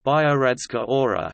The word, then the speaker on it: Biogradska Gora: Biogradska Gora, pronounced Biogradska Ora, is a forest and a national park in Montenegro within Kolašin municipality.